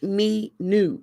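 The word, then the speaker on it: minou: is it no it's it looks like me knew is how you pronounce it but it's spelled m-i-n-o-u because it's french means kitty cat we named her sha minu which means my darling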